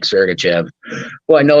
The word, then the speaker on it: Sergachev: DK he's not expensive and you said Ser sergachev almost missed it up but we're not we don't get any rights 100% pronunciation right sergachev uh he kind of owns